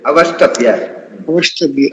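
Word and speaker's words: अवष्टभ्य: S and T has to be pronounced as Isht. Avastabhya, okay.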